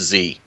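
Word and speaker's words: Que: He's a monk, and his name's actually spelled Q-U-E, but it's pronounced Z.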